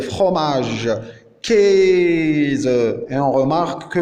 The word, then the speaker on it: Käse: Le A umlaut phonétiquement c'est le E, comme Käse, fromage. Käse. Et on remarque que le A umlaut phonétiquement c'est prononcé E.